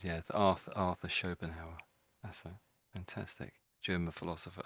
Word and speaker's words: Schopenhauer: And that's a tricky name and you're spot on. That's exactly how it said. Yeah. Arth Arthur Schoenhower.